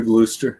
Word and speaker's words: Gloucester: regular gouda or whatever but he has a gloucester there and i didn't i don't know if i can find is that how you say it gloucester yeah gloucester glooster yeah glooster i don't know if i can